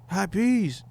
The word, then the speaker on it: Hot Peez: He was like, Hot Peas, like on the stove. You know what I'm saying? And I was like, oh shit. That is what my name sounds like. So, because I know how it's spelled, EEZ, you know, whatever.